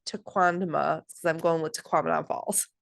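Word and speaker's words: Tequendama: Taquandama Falls. Taquindama Falls.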